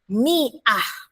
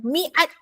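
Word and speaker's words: مئة: 100 ialah miah. Dengar baik-baik sebutannya. Miah bukannya miat. Bukannya miat. Miah. Ah. Ah. Tak payah. Miah.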